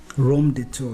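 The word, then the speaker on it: Raumdeuter: have the rom detour i always struggled to pronounce this thing let me just see how it is rome de tour yeah it's the german for space investigator the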